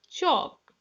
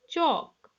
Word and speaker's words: chalk: So first word is chalk. What is chalk? Walk, talk, buck, sidewalk, stalk, moonwalk, cock. Look children here, A-L-K. L is there, but L is silent.